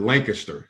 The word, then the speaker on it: Lancaster: we know you're not from Lancaster because we pronounce it Lancaster not laying I guess is our dialect from